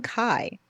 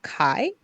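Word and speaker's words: Kay: and his name is it's spelled k-a-y as in K but I've always heard it pronounced Kai hmm huh um and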